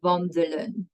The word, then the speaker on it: wandelen: It is a bit tricky to explain this way, but usually if a vowel is in between consonants, so the last letter of your syllable ends in a consonant, it's short all the way.